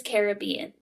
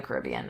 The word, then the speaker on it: Caribbean: The movie is Caribbean, but nothing but else it's the is.